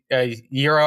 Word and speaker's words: gyro: Oh, I mean, is it boring to say, just a gyro? I can't even really pronounce it.